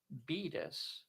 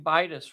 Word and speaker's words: Beatus: For the record, it's Beatus. So I've been pronouncing Bitus wrong the whole time.